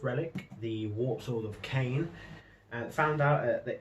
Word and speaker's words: Khaine: to the bloody-handed god, aka Cain. And if you're wondering how that's spelled, that's Khaine.